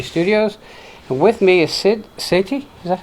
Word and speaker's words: Sid Sethi: And with me is Sid Sethi. Is that how you pronounce it?